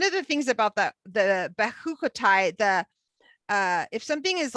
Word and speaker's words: Behar-Bechukotai: Behar-Bechukotai.